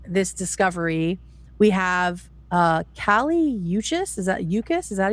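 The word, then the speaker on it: Kali Uchis: So, in the days following this discovery, we have uh Kaliuchis, is that Yucas? Is that how you pronounce her name?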